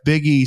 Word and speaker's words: Buege: have uh Mr biggie spelled bu G but pronounced like Biggy Smalls from Salt Lake City